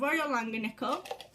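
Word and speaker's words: Royal Langnickel: So I have Royal Langanickle.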